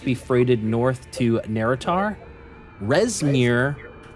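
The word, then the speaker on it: Rezmir: right everything must be freighted North to narar resir R EZ m IR allowed us to keep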